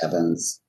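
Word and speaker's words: Ewans: It is spelled with a W, but it is pronounced Evans. It's because it comes from a German origin where W's and V's are swapped.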